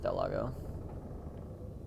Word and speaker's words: Del Lago: about to go see Del Lago if I'm even saying it right for sure it's Del Lago that is one thing